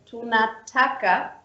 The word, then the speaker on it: tunataka: So when you read a word, for example, the tonation, like the pronunciation, goes up at the second last syllable. So for example, we have the word tunataka.